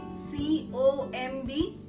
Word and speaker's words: comb: Next word, very commonly used. That is C-O-M-B. How we pronounce it as? Yes? Comb. Because of C-O-M-B, comb. But my dear friends, it must be pronounced as comb. K-O-M-E, comb, comb. Okay? Comb your hair properly before going to the party. Okay? So it's comb your hair, not comb your hair.